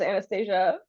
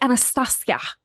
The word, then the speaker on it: Anastasia: down to the prononciation she's like it's Anastasia it's not Anastasia but the other thing